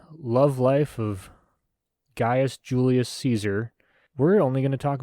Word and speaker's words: Caesar: Oh yeah, I got some Kona Brewing Ale here, and I believe I'm going to say Caesar. I know the correct way to pronounce it is actually like Kazar.